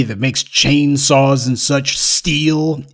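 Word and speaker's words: Stihl: makes chainsaws and such steel s-t-i-h-l that's how it's pronounced steel well you know what that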